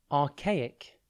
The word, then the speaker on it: archaic: word at a time today's word is archaic it's pronounced and it's spelt a r c h a i c think arch then the letter a and then i c at the end archaic describes